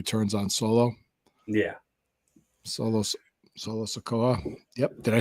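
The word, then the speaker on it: Solo Sikoa: Solo Solo Sakoa.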